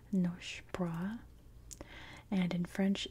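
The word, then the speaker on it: Nosy Boraha: In American English, it would be pronounced Noshi Baraha. In Malagas, it's more Nosh Bra.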